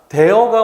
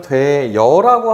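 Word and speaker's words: 되어: 지금 대어가 원칙이지만 되여라고 하는 거를 허용한대요. 한편 피어가 원래 발음이지만 피여라고 발음하는 것을 허용한대요.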